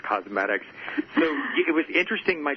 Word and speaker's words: Cosmedix: Everyone wants to call it Cosmedix, but it is actually pronounced Cosmedix.